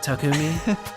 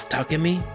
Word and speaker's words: Takumi: That's what you're going with, Takumi. Sorry, I said it wrong again. Tuck me.